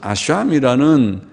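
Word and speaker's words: אשם: 속죄제는 카타트라는 말이고, 카타트, 카가 거친 수미에서 하타트라고도 표현하고 하보다는 카에 가까워서 카타트라고 발음을 하고, 속건제라고 하는 것은 아샴이라는 다른 단어입니다.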